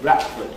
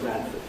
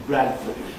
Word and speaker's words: Bradford: on television very much, he would tend to say Bradford instead of Bradford, which is what most Bradford folk do say. But the normal educated pronunciation of that word is Bradford.